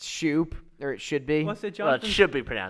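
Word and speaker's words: Schoop: Jimmy used to say there was this one guy whose name was Jonathan scope but it actually is pronounced Shoop there it should be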